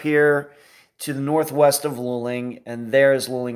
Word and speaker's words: Luling: January of 2021 I think I called it lulling that's just how far I've come I now know how to pronounce the name of the town but San Marcos is up here to the northwest of Luling you'll see it right there that is where